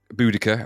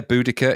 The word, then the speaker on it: Boudica: Boudica, I guess is how you say it nowadays. Boadicea in old language when we were at school.